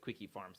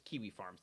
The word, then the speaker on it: Kiwi Farms: saying I mispronounced maybe I said quickie Farms it's kiwi Farms like the fruit that's correct okay Steven